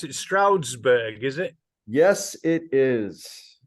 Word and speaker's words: Stroudsburg: So you're in, how do you pronounce it? Stroudsburg, is it?